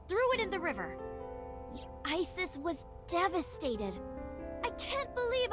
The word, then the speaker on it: Isis: Horus's mom is named Isis, but in ancient Egyptian, it's pronounced closer to Ise or Ase.